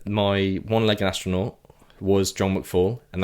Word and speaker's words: McFall: one-legged astronaut was John McFall and that is his name but I realized I pronounced it John Mcall three times really after that yeah